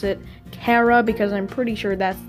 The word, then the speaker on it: Chara: debate on how to pronounce it but I pronounce it Kara because I'm pretty sure that's the correct pronunciation